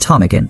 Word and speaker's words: Ptarmigan: P T O I M I G N silent P random I is a spelling nightmare and this was before internet or dictionaries were readily available in remote mining camps.